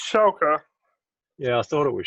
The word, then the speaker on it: Schalke: the break, and therefore I reckon that's why Schalke are going to win by 4.